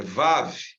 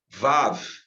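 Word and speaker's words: וו: Vav. Isso. Vav. Se pronuncia como se representa o V.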